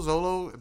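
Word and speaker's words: Xolo: Zolo, the X is silent.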